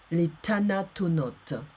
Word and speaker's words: Les Thanatonautes: It's called, in French, the pronunciation is Les Thanatonautes by Bernard Werber.